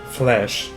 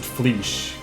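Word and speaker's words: Fleche: This, again, is a French word, flesh, or like literally pronounced like the word flesh, like the flesh you have on your bones.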